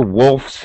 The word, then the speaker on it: wolfs: Then the because it's the verb and and it the word ends with an f sound. F no vibration. It's voiceless.